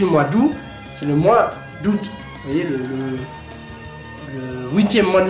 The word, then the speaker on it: août: d'où c'est le mois d'août mais le huitième mois de l'année en fait je connais moins doux et vous vite du mois d'août nous on prononce pas le thé en fait si vous